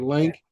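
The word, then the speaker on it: LAANC: Lance or Lank, how you would pronounce it, or you have to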